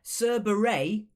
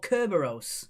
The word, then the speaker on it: Cerberus: It's pronounced either Cerberus or Kerberos.